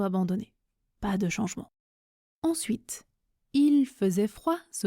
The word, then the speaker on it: il: Ensuite, il faisait froid se prononce il faisait froid. Il faisait froid. Il se prononce i, je ne prononce pas le L quand je parle vite, et faisait se prononce